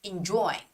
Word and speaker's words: enjoy: you have to pull out your lips when you're pronouncing the words with the sound okay so I think